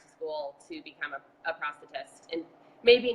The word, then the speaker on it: prosthetist: is determined by your prosthetist. Another word I had to learn how to use after everything went down. Obviously, if you say it wrong, it sounds like prostitute.